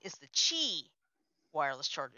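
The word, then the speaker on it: Qi: wireless charger nice those little t is the chi wireless charger it's called q i and it's pronounced thank you john for helping me on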